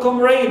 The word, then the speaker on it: comrade: Also for comrade, the same thing, we stress the first syllable, right, but not the suffix raid.